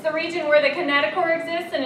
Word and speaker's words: kinetochore: Ring structure on each sister chromatid called a kinetochore. C-H-O-R-E, but it's not pronounced chore. It's pronounced core.